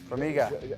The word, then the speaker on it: Formiga: See right here, we have John Dodson taking on, how do you pronounce, Formiga. Formiga.